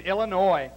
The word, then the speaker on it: Illinois: directly from someplace in Illinois did you like that I didn't pronounce that final s it's a French word